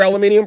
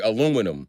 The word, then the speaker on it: aluminium: Aluminum. I'm wondering why you're so confused here. Aluminium is aluminum. That's how the British say aluminum.